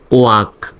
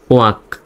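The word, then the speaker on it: walk: এলকের আগে এখানেও এ আছে, সুতরাং এলের উচ্চারণ সাইলেন্ট। WALকে হবে ওয়াক, ওয়াক, ওয়াল্ক নয়, ওয়াক।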